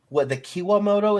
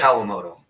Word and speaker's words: Kawamoto: The Kiwamoto, is that how you say it? Kawamoto.